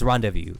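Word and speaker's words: rendezvous: Man, he knows how to pronounce the word rendevu. I don't cuz rendevu is actually the way to do it.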